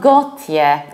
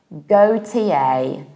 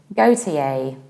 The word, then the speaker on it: Gotye: We will pronounce it like GOTYE, GOTYE. How to remember it? Take a look at my picture. It's go, tea, and yay.